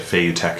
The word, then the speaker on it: Feiyutech: That's how you say it, Feiyutech, sorry.